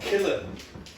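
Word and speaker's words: Killeagh: smallest villages in ireland it's called killer yeah the thought has crossed my mind as well but now it's spelt k-i-l-l-e-a-g-h and it's amazing but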